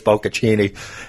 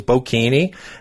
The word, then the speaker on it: bocconcini: I told you it was bocconcini. And he was dying laughing because he mispronounced it. But that was... He had no idea. He had no idea. He thought... But I knew that it was bocconcini with prosciutto, but he said it was bocchini, and I said, okay,